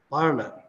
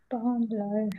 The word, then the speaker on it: parlor: And which one is stressed? Parlor. First one. First one. First one. Yes. First one seems to be stressed, and there is a pa sound in the initial position of the stressed syllable. Yes, sir. So that one is going to be aspirated. Parlor.